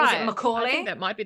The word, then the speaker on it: Macaulay: And his Macaulay. I don't know how to say it. It's Macaulay.